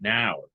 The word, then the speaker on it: hour: This is wrong because it should be an hour. Right, because the H is silent.